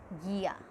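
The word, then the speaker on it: guía: El guia, GUIA, when GUI comes together we will not pronounce this, it is guia, okay.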